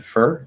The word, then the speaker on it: for: are content words um four is a preposition that one's a little special because we usually do reduce it to fur it's for you for what but if you put four at the end you don't want to reduce it to er because it sounds very uneducated why i don't know